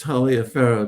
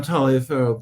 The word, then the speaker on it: Taliaferro: Um, well, to begin with, my last name is often pronounced Talia Pharaoh, just as Oh, I'm sorry. No, that's perfect. And especially when I'm in Europe or Latin America, almost anywhere, I'm Talia Pharaoh, but in the United States, it's typically Talver.